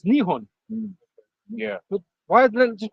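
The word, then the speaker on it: Nihon: it Japan yeah right but they say Japan in Japanese it's nion yeah why they just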